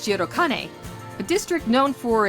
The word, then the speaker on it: Shirokane: Although spelled with the same characters, the district Rio is named after is pronounced Shirokane, a district known for its institutions and upper-class neighborhood.